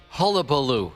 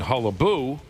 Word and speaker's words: hullabaloo: We were missing a syllable. I had it and I lost You were it. saying hullaboo. We meant to say hullabaloo.